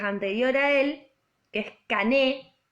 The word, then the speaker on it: Cané: Ingenieros, en un momento, primero piensa como en tomar a un pensador que es anterior a él, que es Cané, C-A-N-E, acento en la E, Cané, que plantea que hay un círculo social dominante, ¿no?